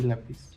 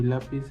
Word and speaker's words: lápiz: Por ejemplo, árbol este difícil y lápiz. Por ejemplo, árbol la tiene la a difícil en la en la segunda I. y lápiz en la primera a.